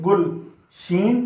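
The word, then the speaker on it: گلشن: गाफ लाम पेश गुल, शीन नून शन। तो ये पढ़ा गया गुलशन।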